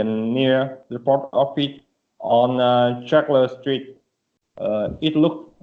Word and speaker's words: Charles: tower okay so the you don't pronounce the e so so it's silent E so Charles Charles yes Charles Street okay